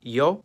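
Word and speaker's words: ё: In almost all of these languages, its name is yo, and it makes the sound yo, o, yon, or on, which, if you talk fast enough, basically all sound the same.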